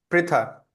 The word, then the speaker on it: पृथा: ओ सन ऑफ पृथा है, ठीक है ना, हमें धीरे धीरे अपना प्रोनाउंसिएशन पे ध्यान देना पड़ेगा। दिस इज पृथा, पृथा पुत्र बोलते हैं।